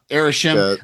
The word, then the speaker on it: Arishem: say his name isim yeah it's arish uh arishem uh killing arishem uh might cause the other